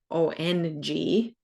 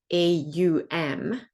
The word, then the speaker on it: Om: I expect there is various yoga schools of thought on the mantra Om because Kundalini chanting it is said ONG, so Ong, whereas others pronounce as AUM, which then turns into Om.